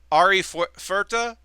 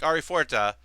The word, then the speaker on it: Arifureta: But this is Arifureta. Fuerta. I always want to pronounce it Spanish, like Arifureta.